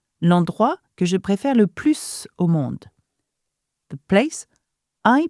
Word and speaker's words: plus: So we are establishing here that "le plus" and "la plus grande" are both superlative, but one has a S sound, okay, when it's not followed by anything, When it's not followed by an adjective.